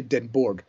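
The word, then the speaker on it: Den Hoorn: the island which there's a town called deor I'd say denor they in denor is a Dutch way of pronouncing it it's the main village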